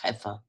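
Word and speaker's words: Xeper: The process by which this exaltation of the psyche is sought is called by the name Xepa, pronounced Hefa.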